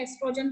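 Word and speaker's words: oestrogen: ठीक बेटे, तो कईयों में एस्ट्रोजन के स्पेलिंग में ESTROGEN के आगे O लगाया होता है, तो कोई बात नहीं, O साइलेंट है, एस्ट्रोजन पढ़ेंगे उसको।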